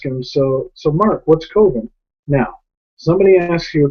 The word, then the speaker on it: Coven: to explain to him that it's called It's pronounced coven he's like nah man comes that sounds like